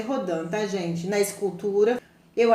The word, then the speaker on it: Rodin: Se escreve Rodin, mas se lê Rodin, tá, gente?